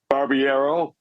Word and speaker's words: Barbiero: I know how to say this now, I can't. Barbiero? Yeah, that's how it is.